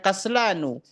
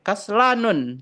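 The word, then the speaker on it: كسلان: Ingat ya, Teman-teman ya, bacanya kaslanu. Tidak boleh kaslanun tidak boleh pakai tanwin membacanya kaslanu.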